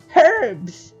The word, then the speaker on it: herbs: Herbs! She pronounces the H. What kind of herbs? Herbs. You're not just... Herbs? Do people not usually pronounce the H?